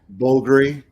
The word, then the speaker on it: Bulgari: this is the bulgari oh the blue dial bulgari if you want to say it correctly wow